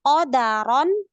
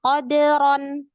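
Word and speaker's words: قَدَرًا: Harusnya kata qadaron dia baca dengan qadron.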